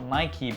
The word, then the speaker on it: Nike: Yes, I know a few of you guys are gonna say, "It's pronounced Nike Saf, not Nikey, but I actually spoke to Nike themselves and